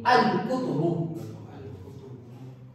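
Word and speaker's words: الكتب: So it is pronounced by adding the two letters A and L.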